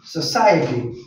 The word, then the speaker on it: society: Social and society. Society. The pronunciation is society. Here, the O will not be pronounced. We will have to pronounce sir.